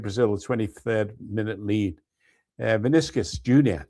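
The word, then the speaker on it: Vinícius Júnior: Vinicius Jr., that's how he pronounces his name.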